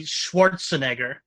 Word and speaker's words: Schwarzenegger: without word my friend because it's German it's actually Schwarzenegger no no I don't